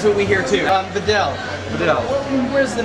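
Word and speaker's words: Viognier: eastern US of Mero is that how you pronounce it VI yes are you sure I'm sure there's a g in there there is a g but we sort of forget the G we just slide right is it safe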